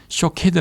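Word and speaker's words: שֹׁקֵד: 단어와 유사한 발음을 가졌습니다 살구나무 는 샤 케 드 라 발음하고 지켜보고 계신다 라는 뜻은 쇼 케드 라는 단어를 사용합니다 또 가지에 해당하는 단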